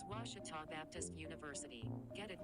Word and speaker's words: Ouachita: tiger volleyball after this i've heard people say oh a cheetah oh wichita oh a cheetah back in texas everybody pronounces it wichita but really it's ouachita washington washington how would you pronounce it it's washita baptist university get it right it's watertall people